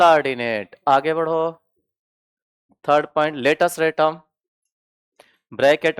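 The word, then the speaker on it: latus rectum: Third point लेटस रेटम। Bracket में एल आर लेटस रेटम spelling है एल ए टी यू एस आर ई सी टी यू एम लेटस रेटम।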